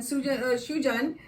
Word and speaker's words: Shujan: But because we both worked in the Telegraph, and Shujan rather, especially, I have a tendency to say Sujan, which is he always corrects me and says no, the Bengali pronunciation is Shujan.